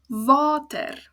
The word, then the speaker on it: water: Whereas the word underneath it, water, water, water. As you can see, I broke up the syllables for you there. Va, ter. It's 2 syllables. The A is open, ends on a vowel, which means it's a long sound, va, and then ter.